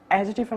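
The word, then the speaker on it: adjective: এডজেক্টিভের মত কাজ করে এডজেক্টিভের মত কাজ করে এডজেক্টিভের মত আমরা যখন বলি এডজেক্টিভ তখন আসলে এডজেক্টিভের ডি উচ্চারণ হয় না এটা হবে এডজেক্টিভ এটা কি হবে এডজেক্টিভ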